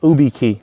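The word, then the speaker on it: YubiKey: need a Hardware Key alone uh use a UB key UB key yeah that's been around for years um yeah which is spelled uh y u uh uh u i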